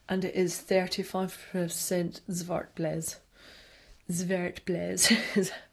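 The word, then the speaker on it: Zwartbles: Zwartblez. It's meant to be pronounced zwartblez, but other people, you'll hear it referred to as zwarbles.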